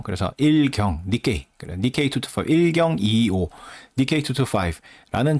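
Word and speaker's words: 日経: 그래서 상위 225개의 주식의 가중 평균 값을 지수로 만든 거 그거를 니225라고 하는데 1경을 아 일본어로 읽으면 저게 니게이라고 읽힌대요. 그래서 1경 니케이 그래 니케25 105 니케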